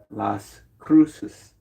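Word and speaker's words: Las Cruces: Notice how I put that accent on there, right? It's Las Cruus, New Mexico.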